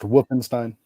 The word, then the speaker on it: Wolfenstein: It's actually pronounced Wolfenstein.